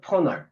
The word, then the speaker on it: 퍼널: 퍼널이라는게 발음이 좀 중요해요. 퍼널 퍼널 F 발음이에요.